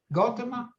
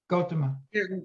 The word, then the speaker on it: Gautama: and then Kathy, how do you pronounce those? Gautama? What do you say? Gautama.